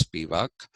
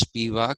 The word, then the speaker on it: Spivak: husband's last name is Spivak. Uh, we pronounce it as Spivak, and he, I think, is of Hungarian origin, and it is Spivak in Hungarian, but the Americans pronounce it as Spivak, Spivak.